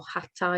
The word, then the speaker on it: Hatha: can just call it hatha yoga or hatta yoga as it's pronounced and that really hatha